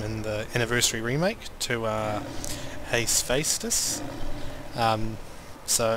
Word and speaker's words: Hephaestus: And interestingly enough, they renamed this room in the Anniversary remake to Hephaestus.